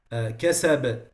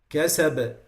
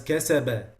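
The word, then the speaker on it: كَسَب: the qalqala, is that some people add haraka to the way they pronounce the qalqala. So they make a movement to it, which is not the case. So when I say, for example, kasab, kasab, it's not the same as kasaba, kasaba, kasaba.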